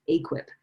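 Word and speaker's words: AQIP: about accreditation as the that acronym is pronounced aquip ask if they're equip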